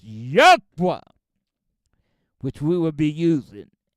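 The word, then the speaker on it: YHWH: FOUR LETTERS Y HW which we pronounce Ywa which we will be using exclusively my brothers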